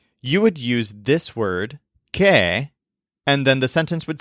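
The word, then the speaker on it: qué: over the letter e that accent mark doesn't change how it's pronounced it sounds exactly like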